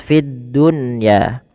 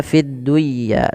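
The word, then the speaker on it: فِي الدُّنْيَا: Fiddunya tidak dibaca fidduya tapi fid dunya.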